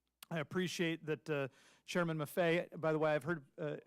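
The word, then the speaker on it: Maffei: used to say uh it rhymes with Buffet yes and I understand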